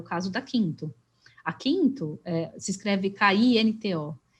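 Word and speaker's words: Kinto: E a gente também tem trazido para cá novos serviços de mobilidade, como é o caso da Quinto. A Quinto se escreve K-I-N-T-O.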